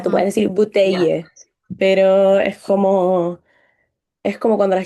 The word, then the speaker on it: bouteille: mismo, botella, También bouteille. Ahí como que no como que te la comes. Como que terminas en la I. ya. Bouteille. Ahora, tú puedes Ujú, decir ya. bouteille, pero es como cuando